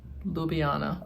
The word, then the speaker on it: Ljubljana: Um it it's pronounced nothing like it like it looks. Okay. Um, Ljubljana.